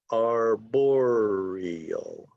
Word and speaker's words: arboreal: this word is pronounced arboreal arboreal so four syllables are boreal okay and the accent is on the second syllable arboreal arboreal arboreal i bet